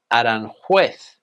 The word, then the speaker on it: Aranjuez: Aranjuez or something like that? Well, in Spanish, the pronunciation is Aranjuez.